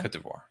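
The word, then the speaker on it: Côte d'Ivoire: Cote d'Ivoire.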